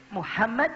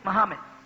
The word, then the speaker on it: Muhammad: you train your children they can perfect the pronunciation but most of you people you don't say Muhammad you say Muhammad and Abdullah you understand what I'm saying and